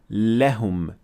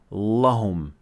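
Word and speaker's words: لهم: start with the lem lam is always empty mouth which means that we will pronounce it like le not la that's why we say so we say lekin and we say lehum not lahum next example la home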